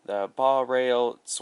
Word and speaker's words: Baureihe: BR42 in German you would pronounce it as the Baureihe 32, which in English is Series 42.